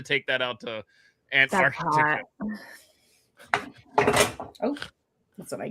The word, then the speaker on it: Antarctica: I love Got to pronounce that C right in the middle. Antarctica.